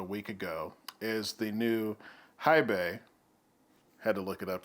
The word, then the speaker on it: HiBy: released about a week ago is the new Hibay, had to look it up to pronounce it correctly, RS82, and it's also an R2R DAP, uh, much like my 10th anniversary Silver.